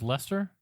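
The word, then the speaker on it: Leicester: incredible odds they did isn't it pronounced Lester it might be Lester yeah leester City foxes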